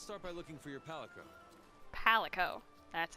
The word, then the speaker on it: Palico: Let's start by looking for your Palico. Palico. That's how you pronounce it.